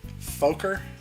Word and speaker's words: Fokker: Fokker? F-O-K... It's F-O-K-K-E-R. Fokker? Fokker, because there's 2 Ks.